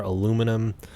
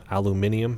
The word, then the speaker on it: aluminium: so we have our aluminum ingots being made over here or aluminium however you want to pronounce that and a little bit